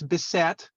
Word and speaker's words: Bissett: Oh, and the other thing, it's Bissett.